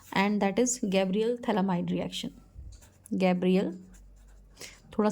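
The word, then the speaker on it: phthalimide: तो यहाँ पर हम क्या लेते हैं, थैलामाइड लेते हैं। अमाइड ग्रुप आप सुन रहे हैं, थैलामाइड, अमाइड पीछे से आ ही रहा है, मोस्ट इज PH TH, ठीक है, यहाँ पे PH साइलेंट है।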